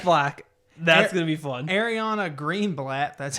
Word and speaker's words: Ariana Greenblatt: Ariana Greenblatt.